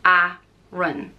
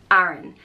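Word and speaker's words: Aran: and I love it it's spelled a-r-a-n and it's pronounced ah run Aaron and this comes from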